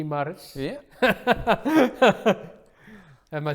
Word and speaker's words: Maris: Maris.